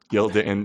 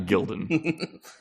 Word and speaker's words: Gildan: Gildan it did yeah gild and and comes back to the Tidy whes he you he pronounced it correctly I told him that he was supposed to be Gildan and not Gilden I remember that exctly